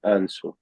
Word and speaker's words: answer: Then look at the article again to check your answer. Yeah, Answer. answer. Yeah, the W is silent.